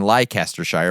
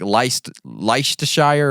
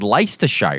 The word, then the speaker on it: Leicestershire: stupid they do like I kept saying lie Caster Shire but apparently it's like leicestershire or something I just said it